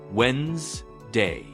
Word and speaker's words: Wednesday: Wednesday. The D is silent.